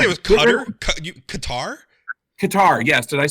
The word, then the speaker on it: Qatar: say it was cutter Qatar Qatar yes did I say cutter said cutter yeah I was like cutter who's cutter guar guar guitar rhymes with guitar oh well I started